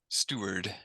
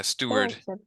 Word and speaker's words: steward: Steward yeah Ste yeah Steward yeah Steward almost sounds like a I don't know if it there's a common name in English there are people named Stuart and it sounds like Stuart yes yeah the only